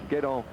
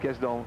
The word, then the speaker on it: Guesdon: At least it was the man Guédon, which I pronounced Guesdon, that got the victory for Marc Madio, twice victor of the Paris-Roubaix.